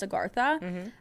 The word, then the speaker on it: Agartha: Agartha or sometimes spelled it's like aarti but it's pronounced Agartha is said to be a vast underground realm existing within the hollow spaces of the earth.